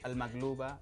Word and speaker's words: maqlubah: En árabe lo hemos escrito, pronunciado en árabe sería al maglouba bil batinjan ma salatat al khiyar.